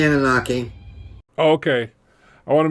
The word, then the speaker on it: Anunnaki: how do you pronounce it, Doctor? You can say Anunnaki.